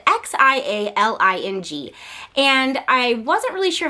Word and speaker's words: Xialing: to find a pronunciation for Xialing, and the pronunciation of that name is Xialing.